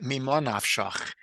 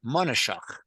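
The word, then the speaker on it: מה נפשך: And in Yiddish, it's pronounced monashach, which is kind of weird, but again, I can't explain it. That's just how it is, monashach.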